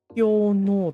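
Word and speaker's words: 氷嚢: Hyono だって。Okay, it is Hyono. Okay. God, that's too hard to pronounce.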